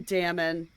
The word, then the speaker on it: Dammon: I was talking about, I call him Damon, which like sounds a little silly to me, but I truly think that's the correct pronunciation. But it's because his name is spelled Dammon. So, like, 2 M's in the middle. Like, that's... Why would you put 2 M's if you did not want me to put an emphasis on the M's?